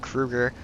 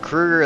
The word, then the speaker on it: Kruger: he's k-r-u-g-e-r-i-m-k-r-u-e and g-e-r but my last name gets pronounced Krueger probably more than his does that's gonna bring it